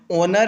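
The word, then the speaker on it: honour: तो आपको पता है जो यहां पे ओनर है यहां पे जो एच है वो साइलेंट है तो जहां पे एच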